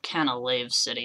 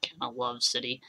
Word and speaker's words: Canalave City: Canalave City, not Canalove City.